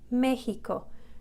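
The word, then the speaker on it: México: It's like a K-S, examen, or in Mexico, it's pronounced like an H, Mexico.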